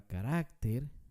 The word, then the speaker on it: carácter: consonante veamos otro ejemplo la palabra carácter no se dice carácter carácter se dice carácter